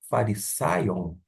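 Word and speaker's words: Φαρισαίων: Vamos fazer a pronúncia de uma forma pausada. Fari, farisaion.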